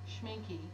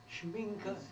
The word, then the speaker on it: Schminke: Schminky, and it says Kunstler. Schminke, yeah, he is silent, but Oh, yeah, you pronounce it.